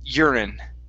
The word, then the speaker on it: urine: here is urine okay stress at the beginning urine urine good all right nice job